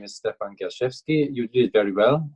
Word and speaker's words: Stephan Gerschewski: So my name is Stephan Gerschewski. You did it very well. Your pronunciation, very good.